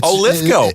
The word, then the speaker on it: Lithgow: It's Judd Apatow and John Lithgow, so it gets very confusing when they're running around with the same spellings at the end but different pronunciations. Didn't know that. But for some reason, Lithgow goes with go, and he was on with Paul F.